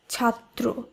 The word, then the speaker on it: ছাত্র: এরপর যদি আমরা দেখি ছাত্র, এই শব্দটিকে এখানে তয় ফলা রয়েছে শব্দের শেষে, তাই এই নিয়ম অনুসারে এই ব্যঞ্জনবর্ণটিকেও দ্বিত্ব হিসাবে উচ্চারণ করতে হবে। তাই শব্দটির উচ্চারণ হবে ছাত্র।